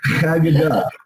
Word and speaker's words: Haggadah: Haggadah.